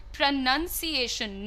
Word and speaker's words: pronunciation: sound is ounce, but when you say NUN, un, it is only un. So you say, how do I pronounce this word? And you say, what is the correct pronunciation?